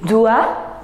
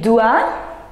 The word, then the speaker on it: doit: Je dois, tu dois, il doit, don't pronounce S, S, T, T, non. Il doit, elle doit, elle c'est féminin, on doit, nous devons, vous devez, ils doivent, ils doivent et elles doivent.